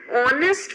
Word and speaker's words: honest: And then an honest man. Again, H is silent and O is the sound.